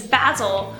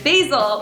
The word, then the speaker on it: Basil: A few examples are: My name is Basil which rhymes with razzle. Or: My name is Basil which rhymes with nasal.